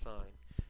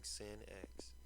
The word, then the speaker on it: sine: called sign function okay just like a street sign okay it's pronounced sign make sure you're saying it I don't want to hear anybody coming in and saying sin x now our domain our